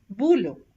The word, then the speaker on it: boulot: OU is pronounced as ou, ou, as in nouvelle, boulot.